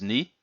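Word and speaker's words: 二: simply one ichi but this one is is knee so one two pretty simple and then the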